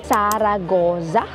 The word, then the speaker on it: Zaragoza: I heard from our tour guide it should be Saragza. Ano kayaang connection niya kay Jessa?